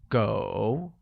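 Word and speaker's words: 狗: same dog translates to go which is pronounced with a falling rising tone once again it's go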